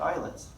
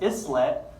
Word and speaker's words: islet: So commonly mispronounced islet, right? How do you say island? Do you say island? Do you say island? It's island, islet, kind of the derivation of that word. But you'll still say islet.